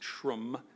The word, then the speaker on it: SHRM: tech International summit and the SHRM pronounced trim diversity and inclusion conference